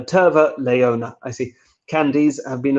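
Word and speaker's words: terva leijona: tar flavored ice cream tava leona i don't really know how finnish words work so i'm i apologize for my pronunciation literally tarline oh i see tavare leona no terva leona i see candies have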